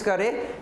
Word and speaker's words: coup: कू बोलेंगे, COUP silent है, कू, military कू, ठीक है।